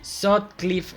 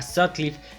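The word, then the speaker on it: Sutcliffe: Hamburgo el increíble stuarts se pronuncia así sot cliff a sod cliff Stuart cliff Se enamoró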